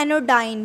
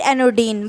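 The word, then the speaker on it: anodyne: फिर आता है एनोडाइन या फिर एनोडीन, both pronunciations are correct, एनोडाइन या एनोडीन, ठीक है।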